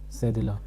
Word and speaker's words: cédille: This is pronounced as l'accent cédille.